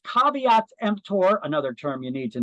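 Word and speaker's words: caveat emptor: so caveat to EMP tour that is not pronounced KV tempter it's pronounced caveats empor another term you need to know in Latin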